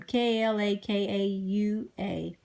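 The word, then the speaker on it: Kalākaua: to anybody so in 1975 King I and pronounce his name ka la ka ua he signs a treaty r ECI PR OC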